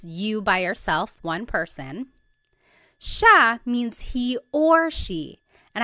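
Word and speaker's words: siya: It looks like it should be pronounced sa, but it's actually pronounced sha sha.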